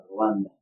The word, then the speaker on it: Rwanda: How do you pronounce it? Rwanda.